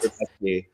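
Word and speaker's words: Rębecki: It's not Rebecca, because as I was taping him, like I was sitting there, I was like, the announcers keep getting his fucking name wrong. Like it couldn't be more simple.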